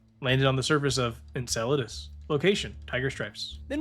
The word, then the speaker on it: Enceladus: Then we've got Enceladus, another hard one to pronounce. In- Inclideus. En- En- Enceladus. Enceladus.